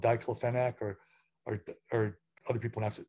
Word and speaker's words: diclofenac: They have a problem with a veterinary drug called diclofenac, or other people pronounce it differently, diclofenac.